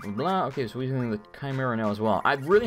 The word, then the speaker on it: Chimera: this one's not bad the Chimera which I used to by the way when I was good pronounced Chimera it's not it's Chimera or Chimera whatever yeah it seems